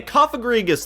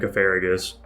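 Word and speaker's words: Cofagrigus: Okay, Koffagrigus though. This guy's kind of nuts. That's first. My brain's always thought this guy was named Cofarigus.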